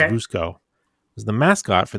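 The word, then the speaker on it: Vučko: So V-U-C-K-O, I guess it's pronounced Vushko.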